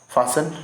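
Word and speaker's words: fasten: चलिए, हम अगले वर्ड की तरफ जो इसमें टी साइलेंट रहेगा, याद रखिएगा। अगले वर्ड की तरफ मूव ऑन करते हैं।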